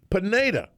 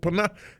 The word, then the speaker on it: Pineda: Did I get it right that time? Pineda. And I said Pineda.